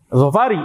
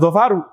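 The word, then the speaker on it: ظفارِ: Zofari bukan zofaru. Zofari madinatun qadimatun. Kalau menurut sebagian kecil Banu Tamim yang tadi ini bacanya gimana? Dia selalu mamn minarf mf akan dibaca zofaru. Bagi sebagian kecil Banu Tamim ini akan dibaca zofaru madinatun qadimatun. Betul. Bagi sebagian besar BU Tamim ini dibaca zofari bandatun qadimatun.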